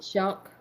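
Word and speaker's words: Shough: Shuck. Tyler Shuck.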